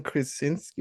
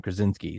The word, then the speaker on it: Krasinski: Emily Blunt, John Krasinski. How do you pronounce his last name? I would be absolutely Krasinski.